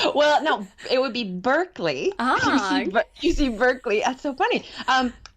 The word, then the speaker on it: Berkeley: And I just want to start, Rachel, have I pronounced Berkeley and draft in the right way? Well, no, it would be Berkeley.